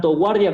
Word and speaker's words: guard: Guard, que puede ser tanto guardia como defender, también es verbo, guard. Pero fíjense que nunca estoy pronunciando la U, es guard, nunca es guard. Y si yo digo guard, no suena igual.